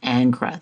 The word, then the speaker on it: Ingres: David's most famous student anra that's how it's pronounced in French this canvas is nearly